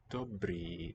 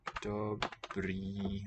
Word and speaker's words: dobrý: Dobrý den. That's good day. Dobrý, long. The acute accent, we call it, the one that goes upward and rightward, shows a long vowel in Czech.